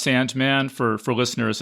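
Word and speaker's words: S&Man: Cemetery dance too called it's a sand it's pronounced Sandman for for listeners it's spelled s Ampersand M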